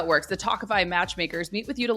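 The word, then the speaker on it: Tawkify: feel your best when meeting new people with talkify that's spelled t-a-w-k-i-f-y you'll feel confident that you're meeting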